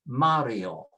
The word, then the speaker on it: Mario: Mario doesn't have an accent, and so it is pronounced with next to the last, Mario.